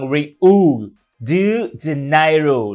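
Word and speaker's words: Rio de Janeiro: า น ว่ า เ มื อ ง Rio de Janeiro น ะ Rio de Janeiro นี่ คื อ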